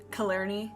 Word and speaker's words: Killarney: So it is taking place in, from what I can gather, it is pronounced Killarney, Ireland, and it is about a song, a